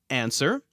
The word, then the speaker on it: answer: I can only think of 2 other words in the entire English language that have a silent standalone W. They are answer, ANSWER, and sword, SWORD.